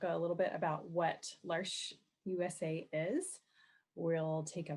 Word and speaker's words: L'Arche: in the video mentioned our name is said lars like marsh rhymes with marsh and it means the